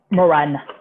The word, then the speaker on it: Maurannes: how do you say your last name oh moran rowan yeah like m-m-o-r-a-n same way okay yes